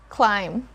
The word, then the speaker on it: climb: table the last word climb climb so it's not climbed we don't sound the letter b here even if we